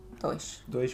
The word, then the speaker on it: dois: "um" (1), "dois" (2) "dois" means two (pronounced doh-ish) would be: so you add an "s" to make it 2?